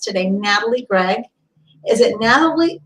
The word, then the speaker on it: Nathalie: as my guest today Natalie Greg is it Natalie it's Natalie right am I pronouncing that right Natalie so she said yes